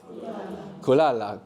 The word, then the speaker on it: kulala: Kulala, good. And if we get, and we have the accent on the penultimate syllable, the second last syllable, kulala.